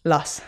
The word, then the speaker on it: Luss: And reading here that you started on your family farm in, do you pronounce it Luss? Luss.